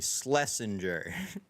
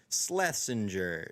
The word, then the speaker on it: Schlesinger: Schlesinger. Schlesinger. It's like sled without a D, and then the last half of scavenger.